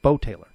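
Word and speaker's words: Beau Taylor: A couple of years ago, baseball, there was a player, Bo Taylor. UCF fans, baseball fans will remember Bo Taylor. B-E-A-U. Okay? Bo Taylor. They had a pronunciation after Bo.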